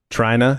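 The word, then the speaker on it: Trynna: And I need to note that Trina is spelled T-R-Y-N-N-A. Trina.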